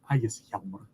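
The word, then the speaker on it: Ægishjálmur: Because in modern Icelandic, now those vowels have merged, you've got it as Ægisjalmur with some additional sound changes. To kind of keep this consistent through the video, I'll use that modern Icelandic pronunciation because it's what most people have heard.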